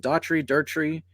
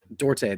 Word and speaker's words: Duarte: Is it Daughtry? I forget how to say Chris Duarte. Dorte. That's it. That's how you say it.